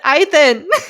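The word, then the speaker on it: Ithan: Uh it's spelled I t h a n for ethan.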